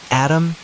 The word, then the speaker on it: ADM: ADM and Rem, pronounced Adam and Remington.